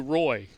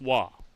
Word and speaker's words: Waugh: Instead of Matthew Waugh, you get Matthew Roy, you know. Well, it's Waugh, so there you go.